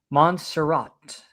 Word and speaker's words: Montserrat: And Marcel Lopez, thank you for helping me pronounce Montserrat is how it's pronounced. Okay. Montserrat.